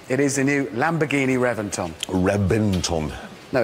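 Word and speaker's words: Reventón: a v Reventon no I know it's spelled with a V but it's pronounced with a B why don't know they've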